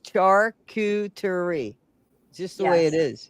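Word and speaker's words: charcuterie: Charerie.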